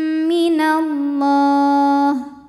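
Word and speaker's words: مِنَ اللَّهِ: Allah mad arid li sukun karena mad tabi'i bertemu huruf yang disukunkan karena waqaf. Mad tabi'inya fathah panjang pada huruf lam, huruf yang disukunkannya ha. Jadi jika berhenti boleh dipanjangkan 2, 4 atau 6 harokat asal konsisten dalam sekali bacaan.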